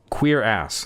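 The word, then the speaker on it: Cuirass: Cure ass. Queer ass. Queer ass. That's the word. I was wondering how to pronounce it and I figured it out. Queer ass.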